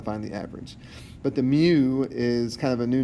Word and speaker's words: mu: But at any rate, what you need to understand out of this is that mu, that's pronounced mu, the Greek letter mu, is what we use to denote a population mean, right?